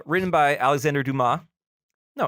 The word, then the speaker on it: Dumas: there's no E at the end of it. So yeah, you don't pronounce the S. It's Dumas.